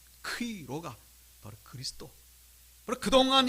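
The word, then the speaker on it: Chi-Rho: 그래서 이 X로 보이는 것을 크이라 그러고, 이 P로 보이는 이 글자는 로라고 읽습니다. 크이로.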